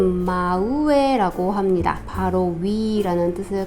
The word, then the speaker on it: 真上: 사람의 이름으로 마코토라멘 여기에다가 윗 상자를 쓰고 발음은 마우에 아고 합니다 바로 위라는 뜻을 갖고 있고요 그다음에